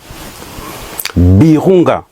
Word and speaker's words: Virunga: Birunga, moi je prononce Birunga.